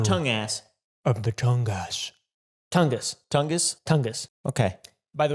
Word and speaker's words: Tungus: the wendigo of the tongus tongus tongus tongus it's pronounced tong us but fast tongus tongus the window i'm tongue ass of the tongas tungus tungus tungus okay by